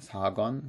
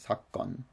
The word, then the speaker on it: 사건: In this word 사건, just note the pronunciation is a hard G here. It's like a double G. It's not 사건, but 사건.